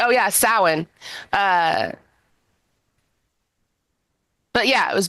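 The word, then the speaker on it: Samhain: um yeah the the reason that it they say it originated in in uh Ireland is because this is long before long before Christianity got there it was originally called sa even though it I know that that's how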